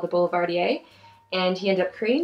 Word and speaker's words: Boulevardier: Boulevardier.